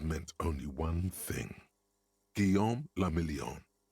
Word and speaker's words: la Million: Guillaume la Million. Million, la million. If it doesn't rhyme, you're not pronouncing it right.